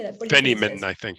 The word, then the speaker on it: Feynman: Feynman, I think. Feynman.